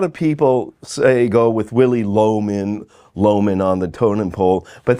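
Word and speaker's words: Lohmann: It's spelled differently, but it's pronounced Loman.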